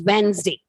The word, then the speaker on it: Wednesday: So as you pronounce it as a whole, it's Wednesday. Okay. But when you break the syllables, children, it is Wednesday. It is a 3-syllable word.